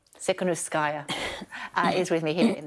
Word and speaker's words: Tikhanovskaya: And Svetlana, pronounce it for me. Tikhanovskaya. Tikhanovskaya is with me here in the studio.